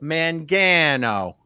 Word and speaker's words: Mangano: It's man, like you're a man, then gan, like man, and then G, and then O. So Mangano.